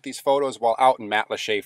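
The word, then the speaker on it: Matlacha: photos while out in mat leche Florida mat lacha as it seems it would be pronounced and I just wanted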